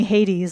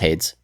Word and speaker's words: Hades: There's a lot of people playing Hades, like in the chat and just in general. It's pronounced Hades. No, it's not. Hades, yeah.